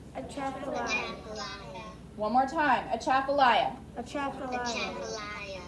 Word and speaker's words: Atchafalaya: Again, Atchafalaya. Atchafalaya.